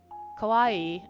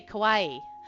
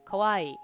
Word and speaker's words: kawaii: I've heard kawaii enough that I could say it the way I heard it, which is not the correct way to say it. Cuz I would say kauawaii, which is not not how you're supposed to say it.